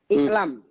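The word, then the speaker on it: اعلم: Iklam. Kan seperti itu bacanya. Iklam, ketahuilah.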